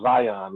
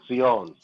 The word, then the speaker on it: Zion: call himself zion lex but it's fiona sione that's how you actually say it it's not zion but it's on yes because it's spelled with this society not yeah not zion or zion yeah sean and this